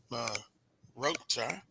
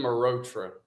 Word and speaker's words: Mehrotra: Yours truly, Carlos Brown, Charles Edmond, and now our second guest, Malhotra. I think give me pronounce it for me, Mehrotra.